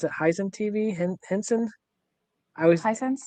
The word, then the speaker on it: Hisense: Last week we talked about how you can play an Xbox on your is it, how do you pronounce it? Hisense TV? Henson? I always Hisense? Hisense.